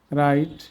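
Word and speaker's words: write: ডব এর পরে আর থাকলে সেসব শব্দের ক্ষেত্রে ডবলি উচ্চারিত হয় না যেমন রং রিস্ট রাইট রেজ র্যাপ রি রেস্ট আমরা অর্থগুলো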